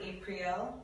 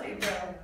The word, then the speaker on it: April: And many actually are asking, how do you exactly pronounce it? No, April? Yes. It's just April, but my mom would prefer April. Okay. Yes, but I would like simple April.